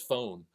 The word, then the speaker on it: phone: You know, everybody knows Pahoni is phone. You know, we don't say the P. PH is an F, and the E we don't say, and we just know this.